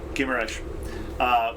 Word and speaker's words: Guimarães: And then there was another tour over to the city that starts with a G, whose name I cannot pronounce. Guimarães, which is where the home of the Portuguese nation is, another UNESCO Yes.